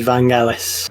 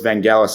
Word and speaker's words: Vangelis: film is Chariots of Fire, and it is Vangelis. Well done. Yes, Tom, you're on the board. That is, of course, the famous score from Chariots of Fire. We said pronunciation. I didn't know it was Vangelis.